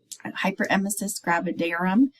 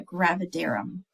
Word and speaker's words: hyperemesis gravidarum: with them um and now we're on to hyperemesis gravidarum hyperemesis gravidarum that's how you pronounce it um I've heard it pronounced many different ways but it is uh gravidarum um clinical manifestations are severe nauseum and vomiting